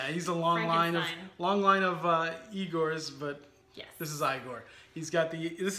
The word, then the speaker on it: Igor: It's pronounced Igor. It's not Igor, it's Igor.